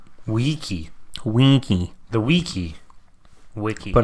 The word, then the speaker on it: wiki: Winky? Like No. in there? No, no N, but WEE. Wiki.